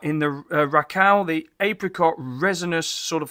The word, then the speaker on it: Rakau: I think this is called Rakau, even though it's spelled R-A-K-A-U.